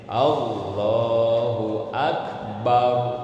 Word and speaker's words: Allahu Akbar: Jangan a-nya dipanjangin, barnya dipanjangin. Nah, jangan gitu ya. Jadi harus benar tajwid dan makharijul hurufnya gitu ya. Allahu Akbar.